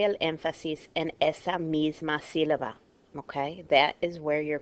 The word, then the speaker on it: sílaba: Okay, it should be stressed on the la, the middle syllable, the second to last, because it ends in a vowel. It's not pronounced that way. It's pronounced sílaba, so we know it's going to have a written accent.